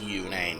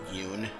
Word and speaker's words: Yune: I think that's the term the Big Clingy used, and I can't think of a better one, by Yune, and it's pronounced Yune, not Yoon.